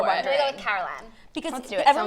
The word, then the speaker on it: Carolan: gonna go with Carolan. Because Let's do it. everyone was Sounds saying cool. Carolyn, but I'm like, but it would have been spelled with a Y.